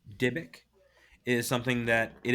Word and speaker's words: Dybbuk: This Divik box? Dybbuk. How do you spell that?